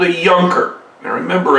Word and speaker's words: Junker: Now, a German who has financial dealings is called a Junker. Now remember, in the German language, J's are pronounced more like Y's.